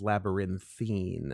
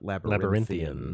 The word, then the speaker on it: labyrinthine: should tell him that the adjective is labyrinthine and not Labyrinth Lathan not that labyrinthine how do you spell